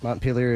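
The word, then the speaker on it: Montpelier: correct Sean Sean moner Mont peeler is correct I was saying my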